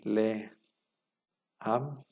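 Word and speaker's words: לָעָם: un rey no pero delante de sílaba acentuada a veces toman un cam esto quiere decir que si la siguiente sílaba lleva acento por ejemplo podría ser este monosílabo am no que significa pueblo nación lugar de que diga le como la preposición aquí le am va a decir la am Cómo sabemos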